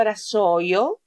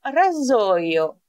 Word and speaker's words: rasoio: Γιατί δεν προφέρω το SS εδώ, δεν το λέω ρασόιο, το λέω ραζόιο. Γιατί όποτε έχω το S ανάμεσα σε δύο φωνήματα, τότε προφέρεται Z.